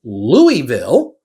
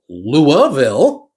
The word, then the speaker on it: Louisville: is it pronounced a Louisville or B louville C Louisville uh now people from Kentucky don't say the S the S is dead to us in this word okay uh e Lille